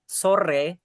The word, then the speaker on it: sore: And for the don or sore, ya, it's kind of hard to say the thrilling R in Indonesia which R sore.